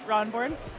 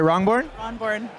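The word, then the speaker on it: Rahnborn: this is what's your last name Ron board sorry wrongborn how do you spell that r-a-h-n-b-o-r-n Ron wow that's cool um um so how long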